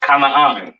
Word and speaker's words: Kanaan: This is pronounced Kanaan, all right?